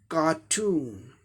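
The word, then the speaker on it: cartoon: कार्टून, कार्टून, second पर जोड़ के कार्टून, ये ब्रिटिश इंग्लिश प्रोनाउंसिएशन हो गया।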